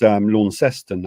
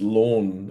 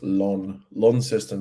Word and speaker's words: Launceston: Pronounced Launceston, actually. Ah. Yeah. Except it's not pronounced lawn, even though it's spelled that way. It's Launceston.